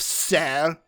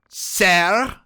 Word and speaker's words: Ser: gotharion you forget yourself sar you are in the presence of a princess did you just pronounce that e as an a ser may haps bowed heads